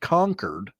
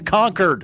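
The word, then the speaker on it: Concord: and other state symbols Gallagher whose preferred pronunciation resembles the word conquered ran into some opposition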